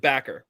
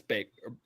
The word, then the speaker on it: Baker: Or is it Backer? It's Baker. It's Baker. Baker.